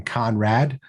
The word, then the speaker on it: Conradt: This week, we are delighted to have the prolific Conradt with the silent T at the end, if you're looking her up online.